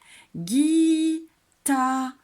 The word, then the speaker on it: guitare: Guitare. Attention, il y a un E muet à la fin.